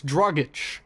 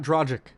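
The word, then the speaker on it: Dragić: the way up besides drug itch not Dragic goran dragic min mispronouncing his name all game don't you just love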